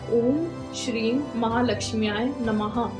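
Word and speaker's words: ॐ श्रीं महालक्ष्म्यै नमः: तो सबसे पहले मैं आपको ये बता दूं कि इस मंत्र का उच्चारण कैसे करना है। आपको बोलना है ओम श्रीम महालक्ष्म्याय नमः।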